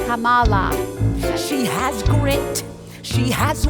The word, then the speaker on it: Kamala: doesn't seem very nice say her name get it right sounds like Kama Kamala she has grit she